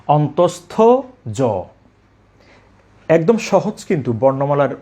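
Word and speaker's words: অন্তস্থ য: এটাকে অনেকে বলে অন্তস্থীয় জ, অন্তস্থীয়। এই উচ্চারণটা করে থাকেন সম্পূর্ণ ভুল। আমরা বলবো অন্তস্থ জ।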